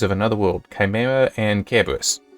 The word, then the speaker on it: Cerberus: another world, Chimera and Cerberus. Technically pronounced Cerberus, not Cerberus, but anyway.